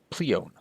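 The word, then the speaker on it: Pleione: and their mother was the oceanid pleon I believe is how you pronounce the name the names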